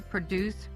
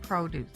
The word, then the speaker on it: produce: The farm was used to produce produce. Produce is a verb with the accent on the last syllable.